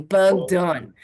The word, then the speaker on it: Bugdon: divorced but that's okay if there's a bug flying around your head and you smack it it's done that's how you pronounce my last name bug done right my first name